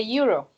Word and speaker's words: euro: As the sound is a consonant, it's a consonant sound, so you need eh.